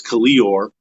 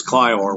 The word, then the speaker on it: Kalior: Like I have a character whose name is Kalior, and they never asked me how to pronounce his name, and an audiobook got to me where the guy's name was pronounced as Clior, which is completely wrong.